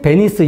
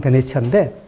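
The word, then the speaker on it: Venezia: 여러분, 이 베니스, 영국식 발음 베니스고, 이태리 발음 베네치아인데, 이 베니스의 상인, 셰익스피어의 희곡 베니스의 상인하고, 베니스가 잘 살게 된 거하고 무슨 상관이 있을까, 이제 이런 게 생각되죠.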